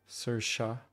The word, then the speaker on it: Saoirse: Saoirse. So S-A-O-I-R is Sir. That's very, very, very different from English pronunciation.